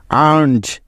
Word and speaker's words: earns: আর্নজ, EARNS, আর্নজ। লক্ষ্য করে দেখো যে এখানে প্রত্যেকটি উদাহরণে এস এর আগে এই 7টি বর্ণের যে কোনো একটি আছেই, তাই এখানে এস এর উচ্চারণটা জয়ের মতো হয়েছে।